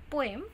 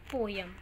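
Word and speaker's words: poem: So this is पोएम, नॉट पोयम.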